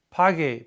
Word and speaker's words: pague: So, antes de graduarme, quiero encontrar un trabajo or una carrera que pague, P-A-G-U-E. Remember, we need that U in there to maintain the integrity of the hard G sound, pagar.